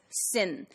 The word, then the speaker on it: syn: This part, that is taken from here, which is pronounced as syn, which means together.